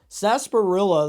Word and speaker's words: sarsaparilla: be sarsaparilla sarsparillo okay so the r in sarsaparilla is silent so I've been saying it right anyways sasparilla the first time I